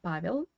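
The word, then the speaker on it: Павел: In Russian, we say Pavel.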